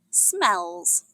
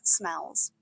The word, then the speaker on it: smells: In this episode, the animals react to very strong smells. It's pronounced with a Z sound at the end.